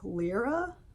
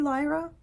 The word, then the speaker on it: Lyra: I want to pronounce this like Lyra, like my cat stepdaughter's name. My stepdaughter who is a cat, her name is Lyra, but it's probably Lyra.